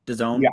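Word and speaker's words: DAZN: Uh I I've heard of Done before. Again, I never knew how to say it. Just, you know, was am I supposed to de Is it D A ZN? Done. D.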